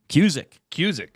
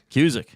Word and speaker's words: Cusack: Hang on, I'm trying to play pronunciation of Cusack. How do you say it? Cusack. Hang on. Cusick. Cusick.